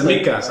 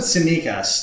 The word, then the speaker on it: Tsimikas: Is that how we pronounce it? Tsimikas. I purposely did not send you guys any messages because I was hoping to see how you guys would try to pronounce it. I said Simikas.